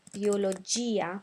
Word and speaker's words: biologia: at the end and for example Biologia we want to pronounce that I um and similar um